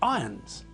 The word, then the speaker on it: Irons: pronounced iron not iron jeremy irons name is pronounced jeremy irons not jeremy irons here's the thing to